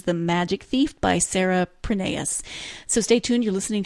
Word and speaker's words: Prineas: And she says it is Prineas.